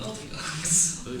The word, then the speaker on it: OTOGs: So you're all here, you're in class, and Roberlin is like, finally gives you the right pronunciation, the OTOGs.